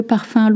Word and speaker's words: parfum: And of course, le parfum. Look at that spelling. U-M makes the sound un.